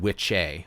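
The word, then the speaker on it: wicce: And it's pronounced in Anglo-Saxon Old English. It was pronounced witcha and witche, which referred to a male and female wise person, spiritual practitioner.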